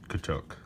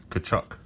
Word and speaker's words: Tkachuk: Matthew Tkachuk. Tkachuk. Jacob Slavin. Alexander Radulov. I misread the back there for the pronunciation.